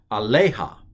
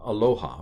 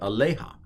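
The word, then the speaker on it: עָלֶיהָ: this is aleja and the accent i believe is on the lay aleja not aloha but aleja so we've got coom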